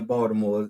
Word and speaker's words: Baltimore: Baltimore as you know I don't put the tea in the Baltimore you know it's us Baltimore is straight spell it with a d not a t but no straight out